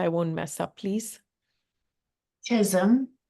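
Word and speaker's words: Chisholm: what the late Shirley uh how do you pronounce the last name uh Janine so I won't mess up please Chism Chism said that if you do not invite you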